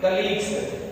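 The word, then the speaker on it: colleague: ल कली ली कलीस क्या पढ़ेंगे कलीग बहुत से बच्चे इसको प्रोनाउंस नहीं कर पाते इसलिए प कलीग क्या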